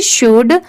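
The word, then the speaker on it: should: तो इसे हम शुड नहीं पढ़ेंगे। यहां पर ये जो एल लेटर है वो साइलेंट है।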